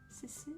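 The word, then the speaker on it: CeCe: Cici, enfin ça s'écrit C-E-C-E.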